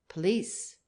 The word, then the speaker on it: police: by the same cause police is an old word in english and still retains its english accent like malice in parts of ireland and scotland and our old word